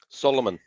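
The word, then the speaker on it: Salomon: one that i've got is solomon solomon yeah which is spelled s-a-l-o-m-o-n but there's like i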